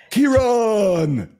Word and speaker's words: Kearon: If you have trouble remembering how to pronounce his name, just think back to Star Trek, the original series, William Shatner, right? I am Kearon.